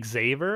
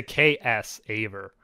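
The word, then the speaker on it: Xaver: it's like I used to say Xavier because they kind of spell it with an X, but it's like K. It's a KS Aver.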